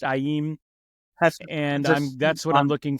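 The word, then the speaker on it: Aiim: with am am amim that's spelled a IIM pronounced aim and that's what I'm looking forward to now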